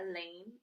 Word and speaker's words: Elaine: I might be a short timer, but you don't have to be at our school very long to know that Elaine rhymes with pain.